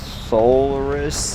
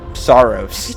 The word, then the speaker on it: Saros: Solaris? Is that the name? How do you say it? Saros.